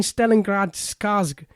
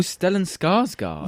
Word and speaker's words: Stellan Skarsgård: No, I mean Stellengrad Skarsgård. Oh, Stellan Skarsgård.